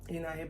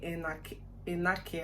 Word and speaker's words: Enake: I don't know if other part of Edo State pronounce it differently, but my in-law side is called Enahe, even if the spelling is like Enake, like the K is silent in pronouncing.